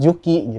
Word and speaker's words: Juki: Eh, Yuki, Yuki, Yuki, Yuki. Tapi semua pada benar ngomong juki.